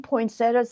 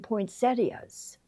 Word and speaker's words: poinsettia: how people pronounce it, I've seen it done both ways. I've seen poinsettas and I've seen poinsettias and I used to always say poinsettias, but now I like poinsettas better.